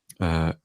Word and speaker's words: Kobe: Kobe? Kobe. It's pronounced for Kobe, yeah, in English, that's how we say it, yeah.